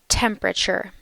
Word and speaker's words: temperature: boy he's got a temperature. You may have been thinking fever, and that's also correct. He also has a fever. So he has a temperature. Notice that temperature has 3 syllables. Temperature. Temperature.